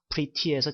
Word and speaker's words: pretty: pretty good 혹은 pretty라는 말을 미국식 영어 발음을 액센트를 좀 줘가지고 pretty에서 t 발음을 한번 제가 연음을 한번 시켜서 pretty, pretty, pretty 이렇게 제가 발음을 한번 해보겠습니다.